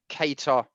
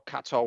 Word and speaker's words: Kattar: It's Max Holloway against Calvin Kattar, or Kattar, whatever. It's Kattar, isn't it? That's the way they pronounce it.